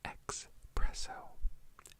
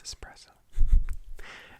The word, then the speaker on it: espresso: are getting at because there are some people out there who say expresso espresso think I said it twice I'm never saying it again I'm just kidding I don't will okay if you watch this channel you get a pass on it but it's espresso espresso espresso espresso if I hear